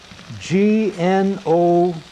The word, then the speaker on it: gnocchi: it's really just personal preference but um you spell that g-n-o-c-c-h-i kevin is pronounced gnocchi i'll just uh g